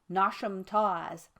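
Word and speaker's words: Knotacentinum Towers: But the scene of this narrative is laid in the south of England, and takes place around Nascentium Towers, pronounced as if written Nosham Tawes, the seat of Lord Knockasent, pronounced as if written Nosh.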